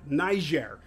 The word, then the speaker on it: Niger: flying from Burkina Faso to Niger that's actually how you pronounce it Niger and we are flying